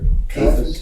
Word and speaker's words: Caiaphas: How do you pronounce that? Caiaphas.